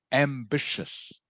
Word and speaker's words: ambitious: um okay that's good I'll just correct your pronunciation Viet and it is ambitious ambitious ambitious correct ambitious so this t-i-o-u-s here